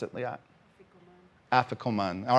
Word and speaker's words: afikoman: on with your thing this I call the Africa man well how do you how do you pronounce it Lee I afikoman all right she has a better pronunciation you